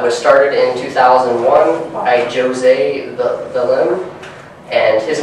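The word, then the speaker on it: José: pronounced Jose it's not Jose um he is actually from um he's actually from Brazil so he's actually Portuguese so their pronunciation of words and all that is very different than Spanish um so the first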